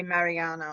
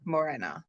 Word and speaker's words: Morena: he ini he did he initially did say Mariana or whatever it was but then corrected himself very quickly and said Morena and then she pulled